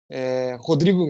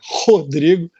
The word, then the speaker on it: Rhodrigo: Rodrigo, então se escreve RHO Drigo, né? Rodrigo Deda.